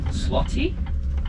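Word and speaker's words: złoty: a new currency so we have the Polish slotty did I say it right that's the one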